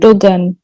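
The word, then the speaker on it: Erdoğan: And Erdogan. G is silent here. This G is silent. Oh, Erdogan.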